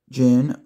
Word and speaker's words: Djinn: gear today we have knife sounds with the Jin XL it's spelled DJ i n n and it is